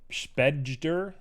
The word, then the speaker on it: spejder: Spejder. Spejder. Le Spejder. Shout out to my ability. It's pronounced like spider.